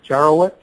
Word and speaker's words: Jaworowicz: My last name is pronounced Jaworowicz.